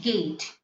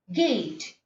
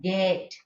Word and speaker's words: gate: word gate g a g a t e gate the real pronunciation is gate gate isn't it and but many of the indians especially the north indians they use it as get get get better they are not using the